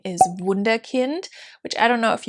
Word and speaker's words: Wunderkind: wunderkind in any case you pronounce it wunderkind in german and it was established